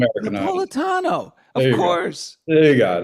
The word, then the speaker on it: Napolitano: Napolitano. Napolitano. Nap Nap Napolitano. Napolitano. Say it again. Napolitano. It's the Americanized Napolitano.